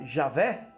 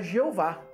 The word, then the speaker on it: Javé: certo problema de fato enquantos muitos sustentavam que esta era a forma correta de pronunciá-la Javé os outros pensavam que erroneamente era Jeová qual é a origem